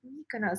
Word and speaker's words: Mykonos: like, oh, they meant Mykonos. So I don't know why. I don't know Greek, but for some reason locals or just Greek people in general don't pronounce as they just say Mykono.